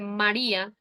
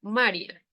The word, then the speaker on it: María: sílaba No porque si el nombre María no llevar a tilde se pronunciaría Maria No porque no tiene la til Entonces nos dice que